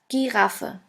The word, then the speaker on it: Giraffe: German word is Giraffe, Giraffe, which means giraffe. As you can see, the word Giraffe is written exactly the same way as in English, but the pronunciation is completely different.